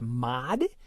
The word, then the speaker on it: mod: It also has an operator written as a percent sign, but pronounced mod, which means remainder. So, three mod 2 is one.